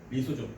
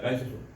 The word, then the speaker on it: 리소좀: 그다음에 리소좀. 그러니까 라이소좀. 발음이 어색하다. 아무튼 리소좀 하면 되는데 아무튼 라이소좀.